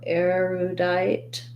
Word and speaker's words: erudite: erudite so erudite um we have first syllable stress so the letters er say the air diphthong in this word eru and then we have an oo sound for the letter u um the letter e makes the i say its name so we have the i diphthong so thinking about it like diet or same rhymes with